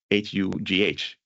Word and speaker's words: Hugh: And then there's also hue, Hugh. You say it the exact same way, written a little different, and that one is just a name.